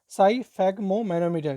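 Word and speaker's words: sphygmomanometer: किससे नापा जाता है, साइफैग्मोमैनोमीटर। क्या कहते हैं, साइफैग्मोमैनोमीटर। इसको आप प्रोनाउंसिएशन से करिएगा, साइफैग्मोमैनोमीटर से क्या करते हैं इसको, साइफैग्मोमैनोमीटर से इसको क्या करते हैं, मेजर करते हैं।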